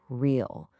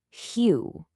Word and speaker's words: real: An English speaker, you and me, we'd instinctively read it as real. But that's not it at all. It's actually pronounced closer to hue.